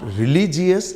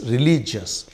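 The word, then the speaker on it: religious: इट इज़ नॉट रिलीजियस, इट्स रिलीजियस, एंड इट इज़ not fair, it is fair or.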